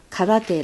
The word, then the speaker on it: karate: How do you pronounce in an English way? Karate.